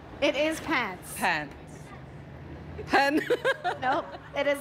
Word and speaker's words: Pence: It rhymes with Pence. Pence? Mike Penn. Pants. It is Pence.